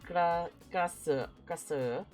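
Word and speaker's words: Krasue: So in English, it's typed like this, but it's not pronounced really like this. So it's like, I guess the closest way would be like kasu kasu.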